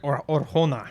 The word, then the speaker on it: Arjona: and that is Adria Arjona. So she was I don't know if that's how you say it, but that's how I'm saying it. Yeah, it looks like that. Anyway, more like Orjona.